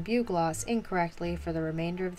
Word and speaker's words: bugloss: flower in the video i was pronouncing it the way it's spelled bug loss when supposedly it's pronounced bugloss bruh like i'm sorry